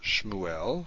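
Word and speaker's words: שְׁמוּאֵל: Shmuel. Shmuel. Samuel. Now we know this is vocal because it's at the beginning of a word, so therefore it's at the beginning of a syllable.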